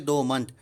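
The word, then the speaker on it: dormant: दो मंथ क्या है, यहाँ पर आर साइलेंट है तो इसको हम लोग उच्चारण करेंगे दो मंथ।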